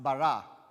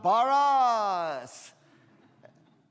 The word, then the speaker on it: Barras: moved to Miami, and now it's a Latino name pronounced Barra. And whenever my daughter played basketball for Gulliver, whenever they would announce her in the beginning, they would always say, Ella Barras!